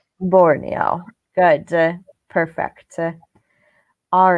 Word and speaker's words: Borneo: in architectures in do you know how to pronounce this Peter Borneo Borneo good perfect all right um I think one